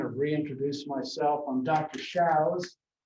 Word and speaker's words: Shows: Shows, S-H-O-W-S, pronounced like cows.